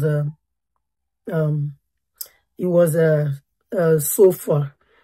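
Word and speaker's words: Zophar: spoke last was um um it was a sof far z o p h a r because when I pronounce it my my auto caption is not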